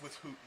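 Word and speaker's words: withouten: where you put without, it's with hootin'. That's why that en is there.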